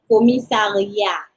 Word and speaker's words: commissariat: Commissariat. Don't pronounce the last consonant. Don't pronounce the T. Commissariat.